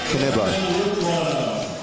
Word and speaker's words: Knyba: So they pronounce the K, Knyba.